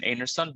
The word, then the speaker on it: Einarsson: I think Einarsson is an surname from Iceland. I'm told this is the right pronunciation, Einarsson, but it's three.